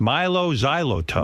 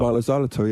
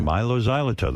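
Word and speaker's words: Mylo Xyloto: Milo Xyoto. Milo Xylito. Yeah, Milo Xylito.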